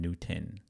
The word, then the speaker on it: Newton: This platform right here, Newton, it's spelled N W T O N. Newton.